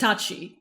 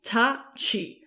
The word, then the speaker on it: Tati: i have friends totally i know it's written weird in english but no it's not like tati westbrook it's pronounced tachi tachi tatiana tachi so you can call